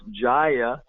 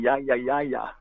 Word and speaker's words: Jaya: All the Latinos say ya Gurudev. Y los latinos dicen Yaya Gurudev. But the actual pronunciation is Ja, like in Gino.